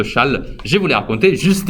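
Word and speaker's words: Chasles: Chal. J'avoue, la lecture de ce nom, c'est pas la meilleure au monde, hein, mais ça se prononce Chal.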